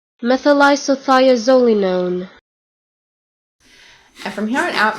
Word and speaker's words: methylisothiazolinone: ingredients, and I'm totally going to botch the pronunciation of this, even though I looked up how to say it, it is methylisothiazolinone. methylisothiazolinone.